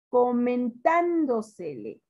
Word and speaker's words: comentándosele: Comentándosele. Comentándosele. ¿Dónde suena más fuerte? Comentan, en tan.